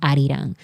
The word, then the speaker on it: Arirang: Some people are struggling to pronounce Arirang because their first instinct is to say Arirang. But maybe because my first language is Spanish, I immediately when I read the title Arirang, I immediately said Arirang. Like this is pronounced Arirang.